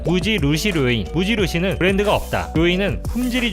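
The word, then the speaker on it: 無印良品: 무인양품의 일본 발음은 무지루시 료인, 무지루시는 브랜드가 없다, 료인은 품질이 좋은 제품을 뜻합니다.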